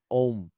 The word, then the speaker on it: ओम: मतलब हम जब ओम का उच्चारण करते हैं ना तो उसका उच्चारण होता है प्रोनंसिएशन ओम ओम जैसे अंग्रेजी में उसको लिखेंगे तो ए यू एम ए यू एम तो